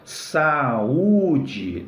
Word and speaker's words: saúde: Se você não acentua saúde, fica o verbo saude, né? Que é o verbo saudar, né? Saudar alguém, cumprimentar alguém, tá bom? Então, ó, saúde tem que acentuar para fazer o hiato, legal?